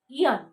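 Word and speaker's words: aeon: Okay, the pronunciation will be eon. Eon. Okay, long period of time.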